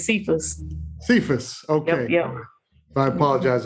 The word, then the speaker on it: Sephus: It's spelled like Sephus, but it's Sephus.